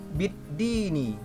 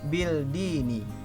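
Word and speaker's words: الدين: Bid-Dini, bukan Bil-Dini.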